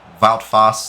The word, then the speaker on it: Wout Faes: Wout Faes. There we go. I have to keep pronouncing that right.